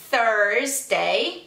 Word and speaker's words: Thursday: On Thursday. Então, aqui parece que Tuesday, mas tem um Rzinho aí, né?